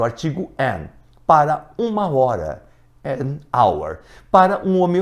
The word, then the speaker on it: hour: O H ele não é pronunciado, então o som vai ficar de vogal e você vai colocar o an na frente.